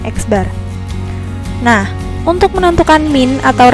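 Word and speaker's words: x̄: di atasnya ada garisnya atau disebut dengan eksbar ya kita bacanya eksbar Nah untuk menentukan mint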